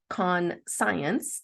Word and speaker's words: conscience: is a noun um spelled con science even though it's pronounced conscience now conscience is an